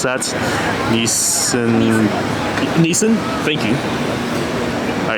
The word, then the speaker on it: Nissin: Okay, just outside here and this one is Nii- I can't pronounce that. Nissin Nissin.